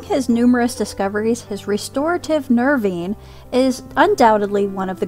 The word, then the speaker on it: nervine: known ad for the nervine now i keep looking at this word and i want to say nirvine but other videos that i saw pronounce it nervine now the following week